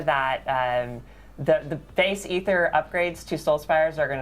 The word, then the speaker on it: Aether: Despite it being spelled t h e r was actually pronounced ether when we came out with the season of infernal hordes and since then it's canon.